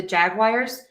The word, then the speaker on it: Jaguars: So I do hear some variations on the ending of the Jaguars. Um I'm going to say think about just unstressing that syllable and don't think about being too specific with the vowel and that will help.